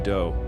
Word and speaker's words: Do: This guy, Marshall Applewhite, but his friends called him Doe, which rhymes with Joe.